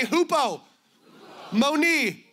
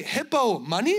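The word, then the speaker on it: ὑπομονή: It is hupomone. Would everybody say hupo? Moni. You say hippo money? What are you even talking about?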